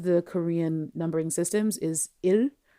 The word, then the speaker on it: 일: numbering systems is il, il, but il also means day. It also means work, but we're not worrying about that for now. And it's the same pronunciation. So il, il, il. It's like ill, but you're not really